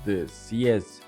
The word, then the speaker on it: xiezhi: It's usually written in katakana rather than kanji, pronounced CS in Chinese, a beast that symbolizes justice, law, and fire prevention in Korea.